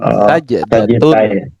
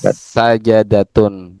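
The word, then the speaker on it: سجدة: Bisukun jim tu jim sajdatun. Nah, bukan sajadatun.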